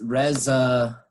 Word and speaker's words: reservoir: english word that we we pronounce still like the old french pronunciation so it's like res reservoir wrestler yeah wrestler all